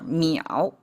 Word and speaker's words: 眇: And amazingly they share the pronunciation. Everything pronounced as meow. Okay, this character meow.